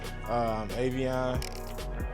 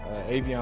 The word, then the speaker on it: Avion: Avion, also known as for short. Avion like the water, spelled with an 8-0.